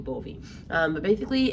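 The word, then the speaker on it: Gbovi: it a lot and it's called 2-2 bovee um and it's not spelled like that though it's g b o v i two two bovee um but basically it's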